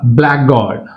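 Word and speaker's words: blackguard: ఇక్కడ బ్లాక్ గాడ్ బ్లాక్ గాడ్ అంతేగాని బ్లాక్ గాడ్ అనకూడదు.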